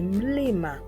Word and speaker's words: mlima: The next letter is pronounced as ma, ma, and the word we shall use here will be mlima, mlima, which means mountain in English. The next letter is pronounced as na, na, and the word is nane, nane, which means 8 in English.